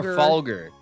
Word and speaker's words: Trafalgar: I was like, just for later, it's pronounced trfalger. Trafalar. Trafalgar.